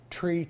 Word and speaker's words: three: 0 it's just like for runway 33 we don't say runway 33 what do we say runway tree tree what about runway 15 we don't say 15 do we we say runway one-five right so those are